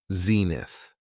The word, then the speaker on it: zenith: It has 2 syllables, and the stress is on the first syllable, zenith.